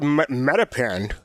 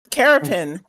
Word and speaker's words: Carapin: I thought it was Metapen. No, that's stupid. Carapin. It rhymes with terrapin.